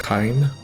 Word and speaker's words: Kain: Now Kain, his name is pronounced Kain, it says Omachi kudasai, and he's saying them politely, please wait.